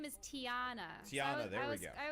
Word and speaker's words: Tiana: Oh, so her name is Tiana. Tiana, there we go. I was close. I was thinking Tina, but yeah, there was definitely another syllable in there.